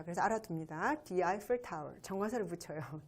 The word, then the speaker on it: Eiffel Tower: 여러분 에펠탑이라고 얘기하고 있는데 영어에서는요, 에펠탑을 The Eiffel Tower라고 발음합니다.